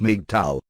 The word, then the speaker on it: MGTOW: Men going their own way, Mig Tao pronounced Mig Tao, notwithstanding what the man-hating